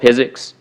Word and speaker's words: PhysiX: It's called PhysiX, pronounced like physics without the H.